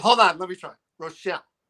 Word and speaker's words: Richel: Rochelle. Yes. There we go. Okay. Like Michelle, but with an R.